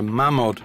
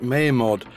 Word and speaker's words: Mamod: It is a Mamod traction engine. Really though, it should be pronounced Maymod, as it's a mixture of the word Malins, the manufacturer's name, and mod, meaning model.